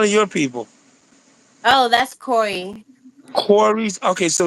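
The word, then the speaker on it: Quris: Oh, that's Corey. Corey's. Okay. So, it's spelled with a cute.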